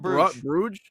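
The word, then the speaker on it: Bruges: you say bru gge oh club Bruge Bruge that's what it is okay all right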